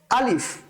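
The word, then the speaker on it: ألف: হরফটাকে আমরা কি বলবো আলিফ আলিফ উচ্চারণ করার সময় একটু খেয়াল রাখতে হবে উচ্চারণ যখন করবো শুরুটা একটু শক্ত হবে যখন আমরা উচ্চারণটা করে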